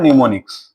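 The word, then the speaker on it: mnemonics: and this is called निमोनिक्स यहां प am silent रहता है this is called निमोनिक्स am silent रहेगा ॉ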